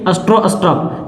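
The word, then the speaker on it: Stroustrup: किया था बी जे ए आर एन ई स्ट्रो स्ट्रप एस टी आर ओ यू एस टी आर यू पी ध्यान से इसका spelling देख लो बजर स्ट्रो स्ट्रप ये है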